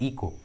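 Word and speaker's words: echo: इस ट्रिक के अनुसार सी का एच का उच्चारण नहीं हुआ है, एच साइलेंट है, इको।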